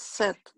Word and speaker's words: sept: Entonces, en el número 7, la T sí se pronuncia, pero la P no. Entonces se dice. Entonces set. Es set. Set. Set. Sí, como si se escribiera S-E-T.